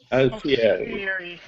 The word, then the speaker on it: Alfieri: Alfieri. Yeah. Did I I'm say it talking right? about Bardo. Alfieri. 4 syllables. You got that extra I in there after the I.